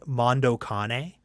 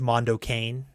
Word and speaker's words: Mondo Cane: Did you ever see Mondo Cane? No. Sometimes pronounced Mondo Cane.